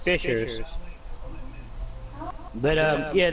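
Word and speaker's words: fissures: Uh they're pronounced fishers, but um yeah, it's basically a fisher is um person who catches fish.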